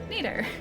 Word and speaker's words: Nito: Neato.